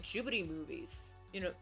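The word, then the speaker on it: Ghibli: why I really like jubby movies you know or gibli films as some people pronounce them in Japan they're pronounced jii you know being not just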